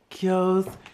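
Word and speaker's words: Keogh's: Kios crinkle cut. That's how it's pronounced.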